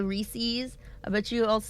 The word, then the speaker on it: Reese's: Reese's supposed to rhyme with pieces. Not everybody says it that way, though.